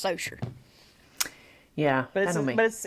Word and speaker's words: Saucier: Well, this is a town like 30 minutes from me, and it's Socier. Yeah, But I don't mean. it's French name, so it's pronounced wrong.